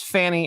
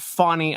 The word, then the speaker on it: Fani: It is not Fani. There is no W in that. It is Fanny.